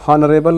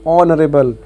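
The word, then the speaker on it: honourable: उसी प्रकार से एन ऑनरेबल मैन, हॉनरेबल नहीं ऑनरेबल, यहाँ पर भी एच साइलेंट है, ओ का प्रोनाउंसिएशन आ रहा है सीधे सीधे, तो ओ एक प्रकार से वावेल साउंड दे रहा है।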